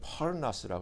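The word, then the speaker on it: πόρνος: 근데 여기서 음행하는 자라는 단어를이 헬라어로 찾아보니까 그냥 발음하기는 포르나스라 그래요.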